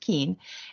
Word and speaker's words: Keen: It doesn't look like it's pronounced Keen, but it is pronounced Keen.